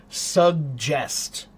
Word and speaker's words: suggest: Suggest. Suggest. Suggest has two G's. The first one is a hard G and the second one is a soft G.